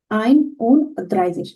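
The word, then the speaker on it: einunddreißig: যেমন এখানে 31, যেটাকে বলছে আইন উন দ্রাইজিশ। আমি যদি এখানে আসি, প্রথমে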